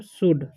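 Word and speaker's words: should: है उसी तरीके से एस एच ओ यू एलडी है ठीक है तो जाएगा स तलावे बोलेंगे और ओ यू है तो उसके च जो है य का उ हो जाता है ठीक है य का और एल जो है साइलेंट र जाता है इसे पढ़ते शड ठीक है उसी तरीके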